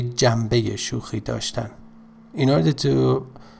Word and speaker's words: جنبه: Pay attention to the pronunciation of this, the first word جنبه, in conversational or connected speech, we ne changes to me, say jambe, you know, like shanbe, but in connected speech and fast speech, we say shambe.